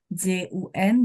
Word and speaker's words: jun: Misalnya JUN bacanya Jun.